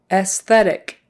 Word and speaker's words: aesthetic: Aesthetic, aesthetic, just pretend that first A isn't there.